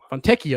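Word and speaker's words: Fontecchio: and then Fonten Fontio Fonteo that's how you say it.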